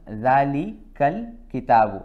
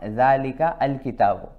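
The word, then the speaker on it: ذلك الكتاب: So it becomes Dhalikal kitabu. It is not Dhalika al kitabu. We don't say it like this. We say it Dhalikal kitab.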